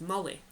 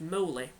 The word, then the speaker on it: moly: a plant known as molly sometimes pronounced moley which is actually where